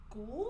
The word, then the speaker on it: Gould: Gold.